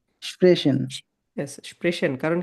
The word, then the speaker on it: sprechen: Sprechen. ইয়েস, স্প্রেশন। কারণ কি? আ ও উ বাদে যা আছে সবই হচ্ছে তালবস্য।